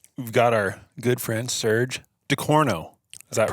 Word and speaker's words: Serge Ducourneau: Just wrapped up day one of NRL Hunter, and we've got our good friend Serge Ducourneau. Is that right? Yes, that's pronounced correctly.